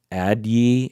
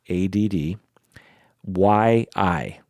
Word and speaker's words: Addyi: how to pronounce it addyi ID that the way it is spelled is a D D so ad ad D Y I Yi addyi it's a terrible name